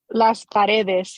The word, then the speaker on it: Las Paredes: Las Paredes, did I say it right? Las Paredes, yes.